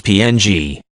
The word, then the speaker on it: PNG: the popular jiff format it is pronounced either as the word ping or more commonly spelled out as PNG the PNG image format